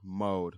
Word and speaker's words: Moed: how you say your last name how you pronounce it because mode Mara mode man and she is a great great person